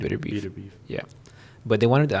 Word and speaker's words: Beterbiev: How do you say it? Beterbiev? I looked at his pronunciation. I think it's Beterbiev.